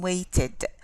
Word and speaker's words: waited: And as in waited, id. Do you see it?